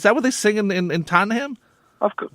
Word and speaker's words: Tottenham: Every week I have to remind you how to pronounce Tottenham. Tottenham. Right. Not Tottenham. Exactly. It's not ham and cheese. It's Tottenham.